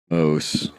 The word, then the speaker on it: Mauss: moved to France and adopted the French pronunciation so as not to be associated with the with the little animal makes sense there's a